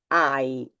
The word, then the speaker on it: hai: Verbo avere, as you know, there is the H, in Italian H, but it is not pronounced. In fact, this one I'm going to read the whole thing. Io ho, tu hai, lui, lei ha, noi abbiamo, voi avete, loro hanno.